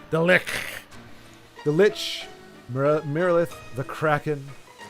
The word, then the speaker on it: Lich: I'm pronouncing it the way they do in Divinity. The Lich.